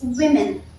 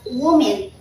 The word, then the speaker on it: women: That's right, it's women. Women. We don't pronounce it as woman.